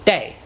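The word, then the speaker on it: 茶: In Minanhua, the pronunciation of this character that means tea is day.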